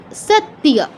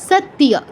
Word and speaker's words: সত্য: তারপর সেকেন্ডটা হচ্ছে সত্য, সত্য, ত যুগ ইয় তিয়া, সত্য, সত্য নয়, সত্য নয়, কি?